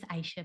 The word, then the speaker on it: Aisha: Did I pronounce that correctly? It's Aisha, but that's.